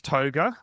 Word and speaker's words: Tougher: Now, it is Toga, okay? It's spelt tougher, but it's Toga.